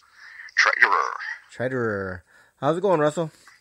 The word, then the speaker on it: Treiterer: Russell how do you say your last name Trader Trader how's it going Russell good so H